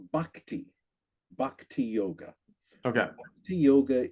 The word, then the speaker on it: bhakti: And you mentioned um again, a slight correction on pronunciation. It's bhakti.